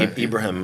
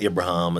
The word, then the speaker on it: Ibrahim: Ibrahim, it's not Abraham as I Right. always got in school.